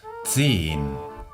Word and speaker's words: zehn: Aquí volvemos a tener la Z, que es una TS. Tz. Y también vemos una H que no pronunciamos. Zehn.